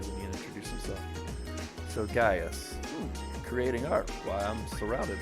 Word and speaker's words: Gaius: there he is gaius i i keep saying gaius but it's pronounced gaius that's how he pronounced that earlier when he introduced himself so gaius creating art while i'm surrounded by art being